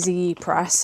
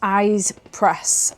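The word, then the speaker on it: Ize Press: This has come from I I've been calling it E press. And on the bottom of the letter inside this parcel, it says it's eyes press.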